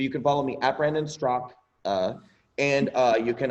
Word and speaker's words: Straka: instagram at brandonstrock and my last name is spelled s-t-r-a-k-a but it's pronounced strock could you tell me brandon strzok i don't care it